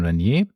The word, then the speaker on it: Renier: So Catherine Renier, French pronunciation, has left JLC as a CEO and is now the CEO of Van Cleef & Arpels.